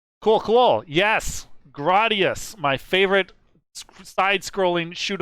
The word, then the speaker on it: Gradius: gradius gradius your thoughts it's gradius there's no there's no contest it's gradius i go by japanese phonetics when i pronounce it but uh i think the chat will back me up it's 100 gradius now is that how they